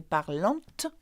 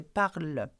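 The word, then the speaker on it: parlent: Now remember that though it has ENT, we don't say parlante, okay, we say parle, okay.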